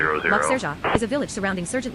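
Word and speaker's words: Lac-Sergent: 17000, Lac Sergent, climbing French flight level pronunciation, 200. Lac Sergent, is a village surrounding Sergent Lake in Port-Neuf Regional County Municipality in the Royal Air Canadian province Maroc of Quebec.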